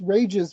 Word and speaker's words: Rages: But yeah, it's rages because remember that the whole silent E thing is an English thing, and this is not English.